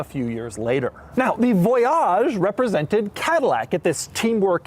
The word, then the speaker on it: Voyage: And by the way, yes, it is pronounced Voyage, not Voyage.